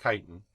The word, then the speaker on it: chitin: about is chitin yeah i'm not cheating you this is this is actually pronounced chitin and that is found